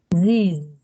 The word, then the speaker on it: these: You pronounce it like this. Okay. So, how do you pronounce this? These. Very good. Again? These. These. Like z. Again. These. No. Again. I cannot hear the z.